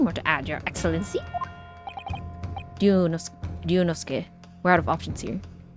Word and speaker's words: Ryunosuke: pronouncing it right, but it's a long U, so it's like a double syllable U. So Ryunosuke. Ryunosuke. Ryunosuke.